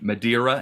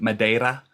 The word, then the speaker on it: Madeira: I said they would they would slap me for saying Madeira instead of Madera yeah but um no